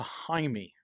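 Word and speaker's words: Jaime: changing your name to haime haime that's how you pronounce it in Mexican Spanish yeah that one Hae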